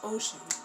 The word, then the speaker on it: Oshun: My name is Ocean. Literally pronounced as Ocean. Pacific Atlantic Ocean.